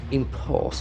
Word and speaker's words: impose: of the review impose impose it is made up of two syllables impulse and x and falls for the second syllable impose and the letter O has got an ill sound impose impose it's a beautiful